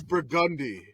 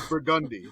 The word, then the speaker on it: Burgundy: why you do well it is it is burgundy yes it is it is the street in the French Quarter of New Orleans it is burgundy that is the pronunciation of it uh Street